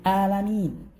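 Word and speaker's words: العالمين: Hanya alamin itu huruf ain. Jangan sampai bertukar dengan huruf hamzah. Jadi rabbil alamin.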